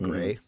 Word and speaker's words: Gris: i think it's pronounced gray it's spelled g-r-i-s but people call it gray and it's it's one